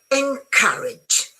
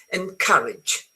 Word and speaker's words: encourage: Because is encourage. Remember this one is pronounced as in cut. You know cut. You cut something. Encourage.